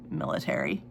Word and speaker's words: Militairen: life, and before the king's military, but it's spelled Militairen, find her.